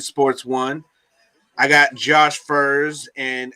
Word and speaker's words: Furs: which I'm actually so Furs is right. You said it right, and it looks simple enough. FERS, Yeah. but I've had people pronounce it fears, fires. I mean, all kinds of shit. That doesn't Everything but even what it sounds like. right. Listen, I'm like literally how it's spelled. Furs, and they're like, oh, okay.